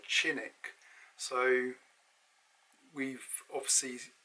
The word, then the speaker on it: Cinik: i went at dr cynic that's another thing we always say doctor cynic in england in turkey they find this very funny because they pronounce his name as dr chinick so we've obviously say